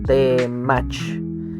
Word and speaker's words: temach: Así que la palabra temach tiene 2 sílabas, temach.